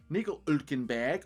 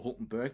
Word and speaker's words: Hülkenberg: in P9, Sergio Perez in P8 on 105, Nico Hülkenberg, or Hulkenberg, depending on how you want to pronounce that, is in P7 on 149 points.